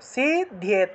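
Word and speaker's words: সিদ্ধ্যেত্: জাপ্যেনা সিদ্ধ্যতে সিদ্ধ্যেত সিদ্ধ্যেত সিদ্ধ্যেত অর্থাৎ ধয়ের সাথে জফলা ছিল একার ছিল তারপরে ত ছিল তাহলে উচ্চারণটা এইভাবে হবে সিদ্ধ্যেত সিদ্ধ্যেত ধিয়েত এইভাবে বিনা জাপ্যেনা সিদ্ধ্যেত सर्वम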